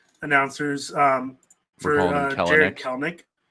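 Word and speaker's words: Kelenic: But he had a little thing where it's like, no, it's Kelnick.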